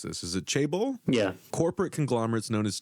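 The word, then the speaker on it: chaebol: corporate conglomerates known as Jan how do I pronounce this is it chable yeah corporate conglomerates known as chable South Korean people face incre inly Bleak prospects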